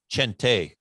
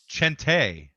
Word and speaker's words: Chente: name is actually pronounced his his name is Chente with c h n te he's Mexican Chente Chente I'm with a hard CH is like an exclamation point after the E Chente yeah man Sanchez